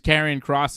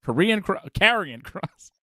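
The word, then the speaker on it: Karrion Kross: I was like Karrion Cross. But it does sound like Korean Cross, which is fun.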